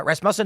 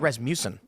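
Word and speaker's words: Rasmussen: Uh, Rasm Musen has been Is that how you pronounce it right? Res muffin. Yeah, it rhymes with uh Asmus. Ah, okay. I always had Ras Mucen.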